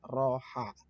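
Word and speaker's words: راحة: Roha. Ini ditulis dalam Indonesianya raha, tapi kalau dibaca nanti tidak roha. Ya, tulisan Arabnya dibacanya roha.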